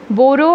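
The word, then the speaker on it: Bauru: बोरो again, it इज़ the pronunciation बोरो, against saw करलूस, a neighboring town in southeastern Brazil.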